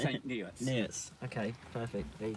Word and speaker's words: St Neots: St Notes. Excuse you, mate. How do you pronounce St Neots? Is it St Neots?